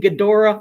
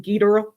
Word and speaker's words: Ghidorah: Some say King Ghidorah. I say King Ghidorah.